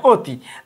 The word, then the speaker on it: অতি: এটা যদি আমরা ভাঙি তাহলে বলতে পারবো এরকম, আদ্য আয়ের পরে যদি সরিয়া রস্যই দীর্ঘই রস্যৌ দীর্ঘ থাকে, তাহলে ওর উচ্চারণ ওর মতো উচ্চারণ হয়, অয়ের উচ্চারণ ওর মতো উচ্চারণ হয়। উদাহরণ লিখছি ওয়াতি, ওয়াতিটার পরে দেখো তো ওয়ার পরে তয় রস্যই আছে, রস্যই আছে, তাহলে আমরা এটা ওয়াটা উচ্চারণ আমরা ওর মতো করব, তাহলে অতি, আমরা এটা কিন্তু অতি বলি।